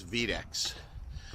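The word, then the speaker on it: ViteX: the trading side of they call it vdex v-i-t-e-x i guess the right way to say it is v-decks so he was able to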